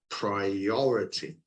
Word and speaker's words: priority: the first syllable, but the bottom line, the stress is actually on the second syllable. We say well balanced, well balanced, yeah, and priority, yeah.